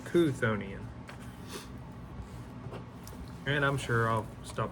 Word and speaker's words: Cthonian: will be the cthonian let me make sure pronouncing that one correctly konian so konian and I'm sure I'll